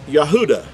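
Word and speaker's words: יהודה: give you an example the word our English word is Judah but in Hebrew it would originally would have been pronounced yahuda the yahuda ah the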